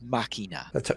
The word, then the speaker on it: Machina: And that is that Amazon orders 2 seasons of Critical Role, The Legend of Vox Machina.